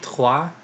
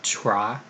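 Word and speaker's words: trois: have claw which is three um tois not not try after that we have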